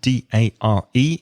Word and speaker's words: dare: Now, dare, D-A-R-E, is pronounced similarly to words like there and where and pair. So dare.